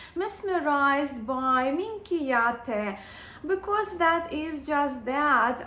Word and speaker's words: Minchiate: help me and all of you with the pronunciation of this tarot. So here it is. Minchiate. Minchiate. Minchiate.